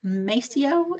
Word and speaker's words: Mascio: I am so excited to introduce Robert Macio. Is that the correct pronunciation?